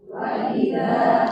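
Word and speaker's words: وَإِذَا: Contoh gini, banyak orang yang baca gini, waidza waidza w jadi ya. Ah, ya kalau misalkan terlalu cepat bacanya atau tidak perhatian terhadap huruf hamzah yang ada di sana, hamzahnya jadi bisa jadi huruf ya.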